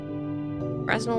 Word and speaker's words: Fresnel: Fresnel lenses. The S is silent. You are a genius design that gives the effect of really thick lenses, but much lighter weight. Fresnel? No, it's definitely Fresnel lenses.